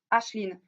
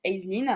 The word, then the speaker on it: Aislinn: Ashlyn. Je sais plus du tout comment on prononce le nom. Moi, je le prononce à la française, je le prononce Aislinn.